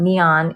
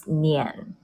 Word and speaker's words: Nian: So in the pinyin version of Nian, it's not neon, it's Nian.